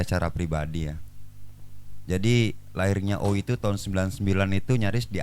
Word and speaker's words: Oi: Seharusnya pengucapan lafalnya beda. Ini antara O i sama oi. Oi. Sedangkan kami bersepakat kemarin itu dalam hal ini penggagasnya Iwan Palo sendiri oi.